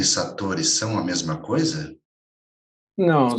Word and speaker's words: satori: Satori é uma palavra japonesa. Então, todas as sílabas têm o mesmo peso. Não é nem satori, nem satori. Né? É satori. Isso é um pouco difícil para nós, porque estamos sempre habituados a acentuar algumas sílabas de uma palavra. Mas, na realidade, é como se fossem três sílabas todas iguais.